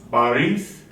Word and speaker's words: Борис: We don't say Борис. Oh, it's on the last syllable, Yes. like Борис Boris Alexeyevich.